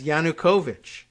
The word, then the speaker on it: Yanukovych: Netflix and I guess he says yanukovic which uh I didn't know but okay that's the pronunciation so according to these